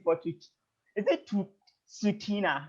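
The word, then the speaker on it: Tsuut'ina: you is it to sutina right it's retina you know yes right so did you hear that so it's sutina so the ts is kind of silent or the t is silent okay yes anyway so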